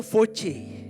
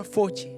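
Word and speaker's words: φῶς: Dan terang dalam bahasa Yunani memakai kata yaitu voce. Walaupun tulisannya PHOS, tapi bacanya adalah voce.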